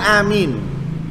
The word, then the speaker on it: amin: atau pengucapan amin hai pertama panjang hamzahnya tanpa tasjid minimnya amin Hai hamzahnya panjang tanpa ada tasdid pada meme Hai dan itu bahasa paling absah jadi bahasa paling tepat Amin paling tepat panjang